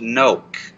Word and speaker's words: Knoch: little piece of information my last name is pronounced Noke think of it as cope with an n so not a problem